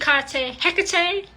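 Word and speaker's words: Hecate: queen of witches hiar I know some people pronounce hik hekate that's fine with you but I prefer to call hik hik and not he that's just my preference okay so don't slam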